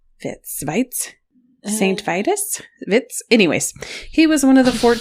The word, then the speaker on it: Vitus: it looks like it was pronoun it says pronounced vits Vitz vites St vus Vitz anyways he was one